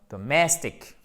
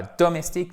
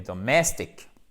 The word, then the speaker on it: domestic: Donc, domestic. Et pas domestique, mais domestic. Accent tonique ici. Il y a un piège puisque, alors déjà, vous avez l'accent tonique ici et le I ne se prononce pas.